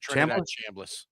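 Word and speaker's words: Chambliss: that miss quarterback Trinidad uh I can never pronounce his last name. Is it Chamblas?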